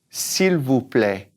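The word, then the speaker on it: s'il vous plaît: ways we can say please first of all syllable play s'il vous play all right now at the beginning let's talk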